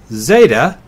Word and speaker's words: zeta: e as in met Zeta is similar to the last letter in the English alphabet it's like the Z in days ADA is a long